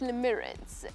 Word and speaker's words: limerence: her, then this feeling can be described as Lemirance. Yes, that's how you pronounce the word, it's Lemirance.